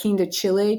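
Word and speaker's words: quindecile: And by the way, people pronounce that Quinta Chile too, but I always pronounce it the keen-decile. So I don't know what the correct pronunciation is, but keen-decile is what I say.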